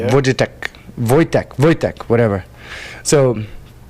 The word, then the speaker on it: Wojtek: No, okay, so I think it's Vojitek, and it's a real story. It's a real freaking story. What, they train the Polish bear? pronunciation. Soldier bear? Wojtek, whatever.